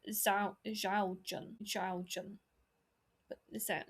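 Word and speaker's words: 肖战: I I I always said Xiao Xiao Zhan Xiao Zhan. But is that Xiao Zhan? Xiao Zhan.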